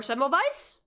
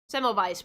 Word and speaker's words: Semmelweis: Semmelweis. Or Semmelweis? If it's German, I have to pronounce that as a W. Semmelweis, probably. Yep. That second pronunciation is right.